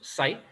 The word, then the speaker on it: psi: the greek letter psi p is silent it is pronounced psi and the unit is